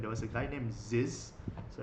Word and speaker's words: Zyzz: Oh, you have the during that time back in 2011, there was a guy named Ziz, so it's spelled ZYZZ double Z.